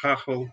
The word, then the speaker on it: Gagel: And of course, my last name, Gagel, pronounced Gagel in Holland.